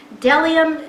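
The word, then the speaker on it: bdellium: the and you say it looks like a b but you don't pronounce the b the delia and the onyx stone are there dellium as far as we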